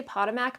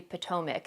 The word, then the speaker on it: Potomac: I always say Potomac, but it's actually Potomac.